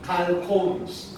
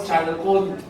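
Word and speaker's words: chalcones: Ang tawag sa dagta, calcones. Calcones. Sabihin mo sa katabi mo, calcones. Calcones. Ito po ha, calcones po ang tawag dyan. Calcones. Hindi po chalcone. Calcones. Yun ang tamang pronunciation, okay?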